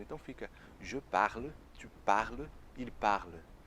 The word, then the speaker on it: parles: Je parle, tu parles, il parle. Então fica tudo igual sonoricamente falando. Então fica je parle, tu parles, il parle. Na escrita tem uma diferença ali, um S, mas não se pronuncia.